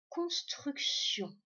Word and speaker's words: construction: Donc, ça veut dire que c'est une maison qui est en construction. Eh bien, le sion qu'on entend à la fin s'écrit avec TI et puis évidemment ON à la fin.